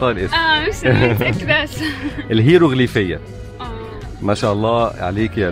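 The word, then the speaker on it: الهيروغليفية: الهيروغرافيا. برافو عليك، انت عارفاها بس مش عارفه تنطق الاسم. مش متاكده. الهيروغليفيه.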